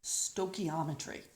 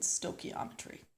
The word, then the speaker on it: stoichiometry: of reaction stoichiometry now you sometimes hear that pronounced as reaction stoichiometry but when I went to high school internet Villanova we always sent stochiometry so potato potato stoichiometry stoichiometry it's all the same thing okay so what is